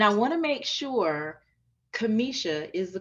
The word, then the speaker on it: Kimisha: be here and I want to make sure Kamisha is the correct pronunciation correct yes that's correct Kimmy show yeah and the reason why I wanted to